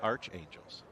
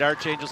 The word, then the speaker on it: Archangels: All right, we're being yelled at in the live chat that it's Archangels, not Archangels. I pronounce it as Arch, like the St. Louis Arch.